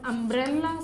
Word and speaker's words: umbrella: a vowel sound whereas the word umbrella starts with a vowel sound now you see both